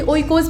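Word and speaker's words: οἶκος: और Greek language में 2 शब्द दिखाई देते हैं, एक तो ओकोस होता है, इसे ओइकोस भी लोग उच्चारित करते हैं, और दूसरा है लोगोस।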